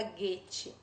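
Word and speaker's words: Goethe: deve ter do guettes se escreve gorete mas fala guetti né o alienista de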